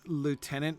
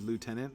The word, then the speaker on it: lieutenant: see how a girl I don't pronounce lieutenant with the silent with the hidden F because I'm not British and if I pronounced it that way then I would you know I'd just be like obviously faking it so I say it the way that Americans say it which is lieutenant like you know kind of